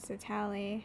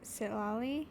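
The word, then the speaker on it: Citlali: looks wait I no it's not satal right Sali that's how it is I've been pronouncing it wrong sorry sit LLY looks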